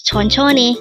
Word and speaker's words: 천천히: of that is tonon M again it is pronounced as tonon m sonon is a word for today